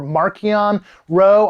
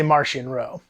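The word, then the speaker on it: Marchion Ro: about martian martian or marchionne row i've heard it pronounced both ways in audiobooks they say martian row uh that he is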